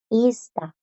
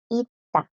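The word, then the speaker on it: 있다: Entonces queda, la pronunciación de esta no es ista, no. La pronunciación es ita, ita. Las S no suenan porque a la par tiene esta D en la misma palabra. Le sigue una T y la D las bloquea.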